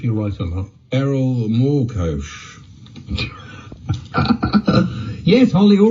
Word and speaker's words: Morkoc: tell you if you write it up errol moore coach yes holly all right we know thank you